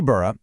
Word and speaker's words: Berra: He calls it the Bura effect. Yep, that's B E R R A, pronounced just like the legendary baseball catcher Yogi Bur.